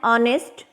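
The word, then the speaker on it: honest: एन ऑनेस्ट मैन, ऑनेस्ट, एच इसमें silent है।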